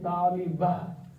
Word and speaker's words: طالبة: ta at the end, which is actually tali batun, but when you stop there, this becomes ha. Okay, talibah. You know, I don't pronounce that heavily, but it is actually talibah.